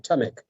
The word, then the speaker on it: Taamek: Yes, it is right. Taamek. Taamek, okay.